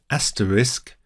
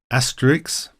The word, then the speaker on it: asterisk: to express emotions and please note is pronounced asterisk not Asterix that's a cartoon character not asterik or even I've heard Astra FISC none of those it's pronounced asterisk quite simple thank you so we